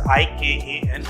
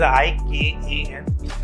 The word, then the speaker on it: IKAN: If you pronounce it, it sounds like I can. It's a very positive way to look at, you know, I can, but we do not say it as ICAN.